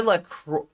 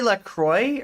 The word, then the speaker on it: La Croix: Yes, I thought it was pronounced the French way, but the company purposely says enjoy la croix. Like, do they say la croix or like la croix?